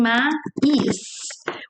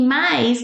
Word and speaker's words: mais: It's like we're saying mais. We add that E sound because it ends with S. So mas e mais, they sound the same. They both sound mais.